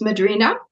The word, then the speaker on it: Madrina: It's Madrina. You don't, in Portuguese, you don't say the H.